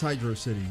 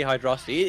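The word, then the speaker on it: Hydrocity: I actually don't know obviously it's Hydro City it makes because you think about carnal night zone right like flying battery Zone call it hyd but like I get I get why people would say hydrosity it's presented as one word it's not like unreasonably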